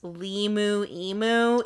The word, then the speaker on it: LiMu Emu: I did I did just realize that the reason why it's liu emu is Liberty Mutual. Liberty Mutual. I was like, Liu emu cuz it's it's it rhymes.